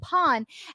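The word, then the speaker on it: Pol: Because if you watch Superboy, Pawn's name is romanized for most of Superboy as P-O-L, but they call him Pawn.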